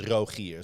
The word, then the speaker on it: Rogier: cuz my like in in Dutch my name is Roier. So like my R is in the back of my throat.